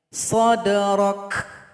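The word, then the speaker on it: صَدْرَكَ: Maka di sini kaf disukunkan, berikan bunyi hamas atau bunyi angin. Sadrak.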